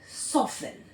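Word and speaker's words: soften: हम देख सकते हैं सॉफेन ठीक अनऑफेन अनऑफेन ठीक? तो जहां भी एफ टी ई एन से वर्ड एंड होगा, वहां भी क्या होगा? टी हमेशा साइलेंट होगा।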